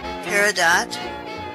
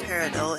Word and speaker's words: peridot: diamond emerald alexandrite Ruby peridot pronounced like that not peridot in the u.s.